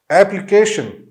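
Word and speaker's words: application: एप्लीकेशन, एप्लीकेशन, इसमें भी long जो है अपना बिग ए साउंड आएगा, एप, ली, एल आई, ठीक है, फिर के, एप्लीकेशन, फिर उसी तरह डिफ्थोंग आएगा इसमें और फिर long S and then N, एप्लीकेशन, एप्लीकेशन।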